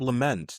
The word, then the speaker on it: Lement: I'm your host, Chemi Wosu, and today I'm joined by Bob Lament. Did I pronounce that right?